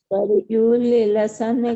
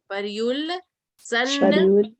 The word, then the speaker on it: पर्युल्लसन: देखो ये अपन ने, ये अगर परयुल लसन बोलेंगे ना, परयुल लसन, तो वो थोड़ा सा उच्चारण में वो आएगा। तो अपन इसको क्या करेंगे, आधा ला को और इस ला को साथ में बोलेंगे, परयुल, परयुल, परयुल सन, सन खमयूख शिखाभिरामो।